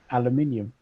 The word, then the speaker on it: aluminium: an at the end so they renamed it aluminium yeah because it rhymes with cabum and sodium and exactly literally they